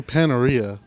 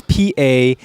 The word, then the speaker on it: Panera: I apparently say it wrong. Yeah, there are a few letters in there that are not on that labeling right there. I say Paneria. Yeah, where's the fucking I, dog? It's Panera.